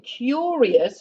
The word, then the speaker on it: curious: ways of doing it you've got ios where the i is pronounced and you've got iou s where it isn't pronounced so like ambitious here you don't hear the i but in curious which i have at